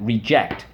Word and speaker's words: reject: to do with that reject let's go reject reject and it's on the second syllable you'll see why in